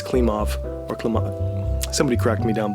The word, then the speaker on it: Klimov: uh ellen klim klimov i always want to say klimkov uh but it's klim off or somebody cracked me